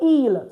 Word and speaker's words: ils: And then we're coming to il. So this is pronounced il because the S is not pronounced. ILS is pronounced il, meaning they, for masculine.